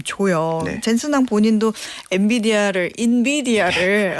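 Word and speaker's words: NVIDIA: 어 일단은 우리나라에서는 엔비디아라고 하지만 현지 발음은 인비디아 예 거기에 가깝다고 하고요.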